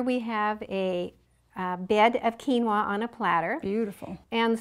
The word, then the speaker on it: quinoa: andes mountains it's spelled q-u-i-n-o-a actually is an indian word uh even though we say it quinoa okay great usually natural